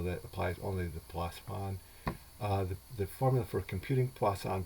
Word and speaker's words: Poisson: It's spelled like poison, with two S's in it, but it comes from the French.